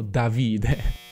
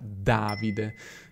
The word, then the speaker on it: Davide: Davide è una parola sdrucciola, infatti tantissimi stranieri si sbagliano e dicono "Davide". Quindi, preciso per gli stranieri che avessero qualche dubbio: il mio nome si pronuncia "Davide".